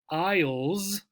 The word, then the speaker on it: Isle: hear of the British Isles right here Isle right as in Island the key again for homophones pronunciation is exactly the same there's a guy